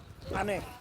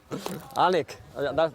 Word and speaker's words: Alnwick: Annick. Alnwick, that's the way you pronounce it, yeah, Alnwick.